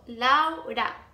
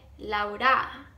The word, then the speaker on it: Laura: So definitely say lao together and put the emphasis on the lao. So laura. Don't say laura. Put the emphasis on the lao. Laura. The second tip would be how to pronounce the R. Listen, laura. Look at my mouth. Laura. So the tip that I usually give people is to think of the word louder. So like loud, but louder.